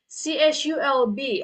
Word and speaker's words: CSULB: Okay, it's same with CSULB. Okay, that's how they pronounce it.